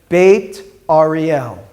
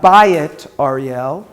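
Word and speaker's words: Beit Ariel: of is what like when we say bait Arielle it's not buy it Arielle by Atari L would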